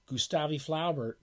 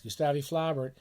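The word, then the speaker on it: Gustave Flaubert: fans of low bear I guess he's properly pronounced in the French in the French Republic gustavi Flaubert don't let anyone tell you otherwise gustavi flabbert I've ever I've never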